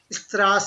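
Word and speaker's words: Straße: So त्रास है there is no emphasis on s. The emphasis is on the a. Strasse. Right? त्रास right Emphasis त्रास is here. Emphasis is here. Right? Strasse.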